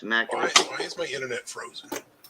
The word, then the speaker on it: Natchitoches: That's how it's pronounced, Natchitoches.